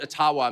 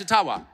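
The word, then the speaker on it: Ottawa: but thank you and I I called it atawa many many times and I get these outraged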